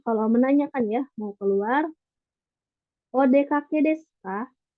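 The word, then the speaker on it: お出かけ: Di sini kalau menanyakan ya, mau keluar, odekake desu ka? O- Odeka, odekage desu ka?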